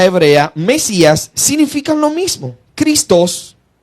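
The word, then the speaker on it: Χριστός: Christos, con tilde, acento en la O, igual Cristo, significa Mesías, el ungido.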